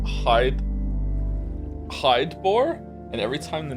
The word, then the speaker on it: Hydeboar: Hidebore. And every time the name was on screen, I mentally pronounced it as hi Okay.